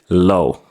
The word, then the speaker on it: low: or someone alone but we cut off the ah and pronounce It Low let me give you